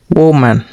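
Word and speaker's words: woman: जैसे देखिए chair table काऊ horse girl boy मैन वुमेन इसको वूमन पढ़ते हैं। क्या? वुमन। ठीक?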